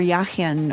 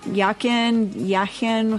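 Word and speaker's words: Jachin: Boaz signifying negation and J stands for yaken or sorry that's the German I mean coming out y yakin however we want to pronounce it meaning beginning so it's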